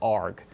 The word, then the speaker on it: ARG: That's shorthand, Navy shorthand for Amphibious Ready Group, and it's pronounced ARG.